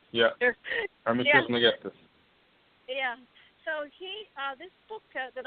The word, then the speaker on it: Trismegistus: Hermes, I always mispronounce it, Trismegistus. Trismegistus. Yeah. Hermes Trismegistus.